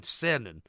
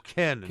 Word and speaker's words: Eugene Cernan: Because you might know this already, but there was an astronaut by the name of Eugene Cernan, or Kernan, depending on which way you would like to pronounce his name.